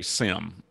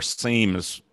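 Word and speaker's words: SIEM: so these are what's known in the business as a sim or seems i'm an old guy so i'm old school on pronunciations s i e m these technical controls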